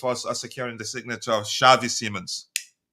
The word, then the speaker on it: Xavi: Um, it it's not pronounced Javi. It's pronounced it's Shiai. Okay. Thank you. Um, big up to you team, my bro. Much love to you, Dante. Javi. Shavei.